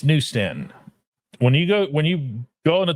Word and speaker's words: New Stanton: Anyway, it's New Stanton. When you go on a turnpike and you see the exit, it's New Stanton.